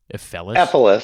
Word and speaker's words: Ephelis: Ephelis. Ephilis. Ephilis. Yeah, it's kind of like syphilis.